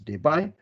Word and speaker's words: debye: moment is measured in unit of debye t pronounced as debye so we can say the dipole moment of this bond is 1.1 day by it is 2.5 they buy etc so let